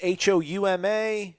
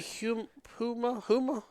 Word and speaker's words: Houma: If anybody knows any cool spots there, or in Homa, it's Houma, and everyone's screaming. I would say Huma. It rhymes with Puma.